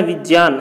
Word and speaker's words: विज्ञान: जो ज्ञा है ये निम्न व्यंजनों से बना है, तो ज्ञा का जो सही प्रोनाउंसिएशन होता है वो ज्या होता है, ज और या से मिलकर बनता है ज्ञा, ठीक है।